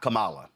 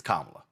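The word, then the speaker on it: Kamala: First of all, um it's not Camala, it's Kamla.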